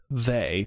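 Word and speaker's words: Thầy: pronounce it um it's if you were reading it in in english it would look like thick nei han but people call him they t-h-a-y and he wrote a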